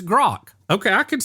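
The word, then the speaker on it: Grok: So say a word that rhymes with it so I can say it properly. Smok. Okay. or Spock if you're if you're or if you're a Star Trek. Okay. Okay. Look, I got that with Spock. It's Grock.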